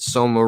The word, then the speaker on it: Soma: she tells me that soma rhymes with coma and i should get